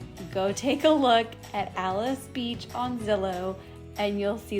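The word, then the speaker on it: Alys Beach: into another world and i know the sign may look like it should be ally's beach but it's actually pronounced alice beach and this area is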